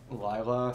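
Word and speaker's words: Layla: well guess sort of the pronunciation in game is Lea but that's kind of like the whole Candace Kake thing and that in Arabic I believe it's more like Lila so it's sort of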